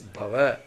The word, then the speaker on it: bhava: this this word so beautiful word it is bhava so sometimes this bhava is I want to